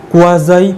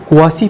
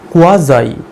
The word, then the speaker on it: quasi: Class 11, 12-এ পড়তাম, তোমরা সবসময় এই ভয়েসটাকে উচ্চারণ করতে কোয়াসি প্যাসিভ, কোয়াসি। কিন্তু আমিও করতাম, কিন্তু পরবর্তীকালে আমি জেনেছি এটার সঠিক প্রোনাউন্সিয়েশন কোয়াসি নয়, কোয়াজাই, কোয়াজাই বা কোয়াজি, কোয়াজাই বা কোয়াজি। তোমরা যেটা ইচ্ছা প্রোনাউন্সিয়েশন করতে পারো, কিন্তু আজকের পর থেকে কোয়াসি প্যাসিভ, কোয়াসি প্যাসিভ এই প্রোনাউন্সিয়েশন করবে না।